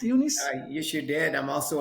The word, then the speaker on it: Eunice: I'm talking about ifbb Pro women's bodybuilding Legend yunice and did I pronounce everything correct Unice yes you did I'm also a WPD Pro